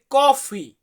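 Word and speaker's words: caffè: পানে হচ্ছে Italy bread হচ্ছে ইংরেজি এরপর আছে কফি কফি এটাকে ইতালিয়ান ভাষাতে বলা হয় কাফে ইতালিয়ান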